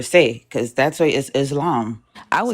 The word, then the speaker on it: Islam: So it says that the Arabic pronunciation is the long a. So it's islam. Exactly. Islam.